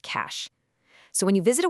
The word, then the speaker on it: cache: And yes, it's pronounced cash.